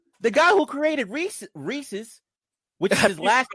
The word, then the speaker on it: Reese's: it's GIF so the guy who created Reese Reese's which is his last name which is how you pronounce it people up State call it reesei reees you know what when I was at